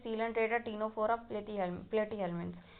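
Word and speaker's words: Ctenophora: और टीनो टीनोफ फोरा टीनोफोरा आप सोच रहे होंगे टी से चालू होता है नहीं बट सी साइलेंट रहता है तो उसे हम टीनोफोरा ही बोलते हैं उसे और फिर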